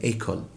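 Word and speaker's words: école: وليس لها معنى لكن وضعت النبره وكتبت على الحرف الاو فخليته يبقى اي مفتوح في النطق يعني تبقى ايكول كذلك الامر في كلمه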